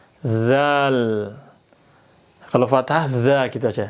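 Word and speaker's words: ذال: Ujung lidah tempelkan ke gigi seri atas. Dza. Dengarkan suara saya. Ikuti zal. Dzal.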